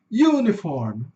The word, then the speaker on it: Uniform: Esse u é um longo, então ele vai ter um sonzinho de iu, né?